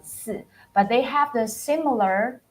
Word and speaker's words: 四: just the tones is different, but the spelling and the pronunciation basically the same.